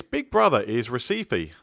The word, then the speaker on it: Recife: it's big brother is Recife named after the Brazilian City so I guess it should really be pronounced Hesse fee anyway Recife is also